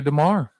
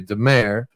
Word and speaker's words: DeMar: I don't want to call her Victoria Demare. It's Victoria Demar. It is Demar, and I am notorious